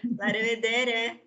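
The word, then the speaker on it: La revedere: La rivedere. La rivedere, like arrivederci.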